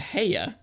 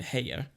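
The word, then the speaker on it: Haigha: so this is uh heya spelled in the book h-a-i-g-h-a and pronounced as rhyming with mayor so i kind of rendered it hey yeah um but this is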